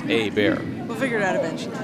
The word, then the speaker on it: Hebert: It's a bear. We'll figure it out eventually. No, I got the mom right here telling me how to pronounce it. It's fantastic. Well, yeah, a bear. A bear.